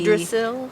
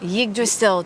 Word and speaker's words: Yggdrasil: It's spelled Y-D-G. Yggdrasil? Yggdrasil tree in a hypnotic state, and then saw the letters in the water, and it's this ancient divinatory system.